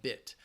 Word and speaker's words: bit: Remember that if that helps you, and that short I sound, just relax.